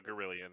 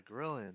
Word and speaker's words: Girallon: You would know what a Gorillion is, or a Gorillion is. Yeah. You guys Pronounced Gorillion.